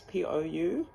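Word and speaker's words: pou: I'm getting that Reo Māori word po. I think it's P-O-U, po, if I'm saying it right.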